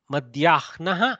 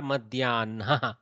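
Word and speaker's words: मध्याह्नः: Madhyahnaha or Madhyanaha. Both are okay. Some people pronounce the Hakara first and then the Nakara.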